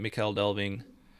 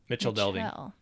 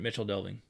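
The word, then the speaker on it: Michel Delving: English m myel is normally pronounced as modern CH here most probably uh so CH so Mitchell Mitchell delving Mitchell Mitchell delving Mitchell okay I think that's I think that's right Mitchell delving sounds good anyway it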